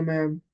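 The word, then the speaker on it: madam: ठीक है तुम्हारे और इसको प्रोनाउंस जो है वो मैडम नहीं करते इसको डी जो है वो साइलेंट है तो हम इसको कैसे प्रोनाउंस करते हैं मैम की तरह ठीक है तो सानिया मैम हालाकि स्पेलिंग लिखते वक्त हम एम ए डी ए एम लिखते हैं बट प्रोनाउंस करते वक्त हम कहते हैं इसको मैम कहते हैं ठीक है हाउ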